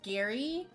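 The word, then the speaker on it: Gerry: a Bachelor season and the guy's name is Gary but it's spelled g-e-r-r-y and he's apparently 71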